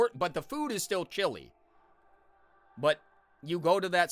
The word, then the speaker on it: Chili: all the time, but there's a suburb here called, it's spelled C-H-I-L-I. Hey, welcome to Chili's, you know, right? Or, I would like to order the chili off the menu. Nope. We say, chili. We say chili here.